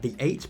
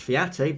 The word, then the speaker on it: Theate: latin ladies in defense my mate Arthur the eight probably pronounced fiate but I like the eight better and I got this runner's